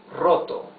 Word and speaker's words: roto: Uh check out the pronunciation of the R. The the R at the beginning of a word is the rough R, right? That is uh so difficult to pronounce in in English. So this is roto.